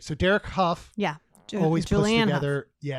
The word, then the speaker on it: Hough: Huff. Is it really? Because it's got a GH on the end. Yes. It should have 2 Fs. Okay, it's not. Like it's... Hufflepuff. Okay. All right. So Derek Huff.